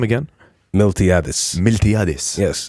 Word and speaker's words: Miltiadis: Miltiadis.